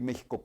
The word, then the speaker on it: México: de otros países llegan a describir méxico con jota y en realidad están haciéndolo correctamente porque así suena como jota no en nosotros tenemos un sentido histórico con la equis insisto para darles esa pronunciación pero somos el único